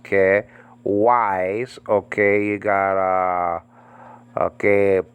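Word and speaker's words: καί: And Greek word chi, copulative connective conjunction. Nowadays pronounced ke.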